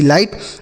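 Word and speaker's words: light: जैसे हमने आपको बताया कि जी एच टी को केवल और केवल आपको ट पढ़ना है।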